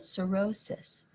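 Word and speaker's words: Sorosis: clubs the following month it was called cirrhosis that's spelled s-o-r-o-s-i-s from the latin word for sister which i always have to say because it sounds so much like something else the backlash against cirrhosis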